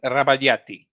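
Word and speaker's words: Rabagliati: It's the gli which makes it the y.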